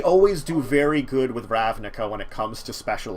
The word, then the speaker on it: Ravnica: So, but anyway, so Ravnica, which I've been saying it right finally. For a while I was calling it Ravnica.